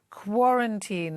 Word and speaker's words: quarantine: The stress is on the first syllable, so quarantine.